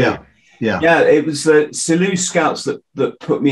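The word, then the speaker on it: Selous: i pronounce it yeah french name originally hello yeah absolutely i say silent s absolutely yeah yeah it was the silly scouts that that put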